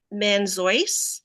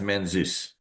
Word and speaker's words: Manzoi: And then Manzois. Which actually I think is pronounced Manzus Oh, okay. because it's basically Zeus is the middle name of Dr. Zeus, and it comes from that.